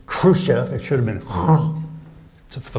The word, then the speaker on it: Khrushchev: Khrushchev reminds me that John F. Kennedy made 4 mistakes when he pronounced the word Khrushchev. He talked about Chairman Khrushchev, and that has 4 mistakes in it. First, the accent, he had it on the first syllable, it should have been on the second.